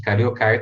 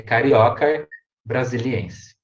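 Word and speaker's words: Caryocar brasiliense: a cabeça com caroço brasileira a tradução ea pronúncia gente fica carioca né nada de falar cariocar tá gente cariocar tá errado não pode ser oxítona é carioca brasiliense então com essa imagem bonita de uma árvore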